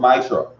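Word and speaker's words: מעשר: Means 10 in the Hebrew and pronounced Ma'ishra.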